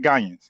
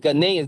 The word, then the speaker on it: Ghanaian: So, nobody call it Gian. Gian, right? No, it's Ghanaian.